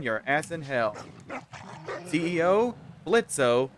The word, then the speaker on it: Blitzo: CEO Blitzo, the O is silent.